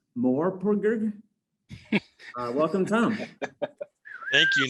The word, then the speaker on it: MMORPG: Tom is currently writing the Hijinks webcomic for Missing Worlds Media, a tie-in to the upcoming City of Titans MMORPG, which I guess is pronounced Morpurg.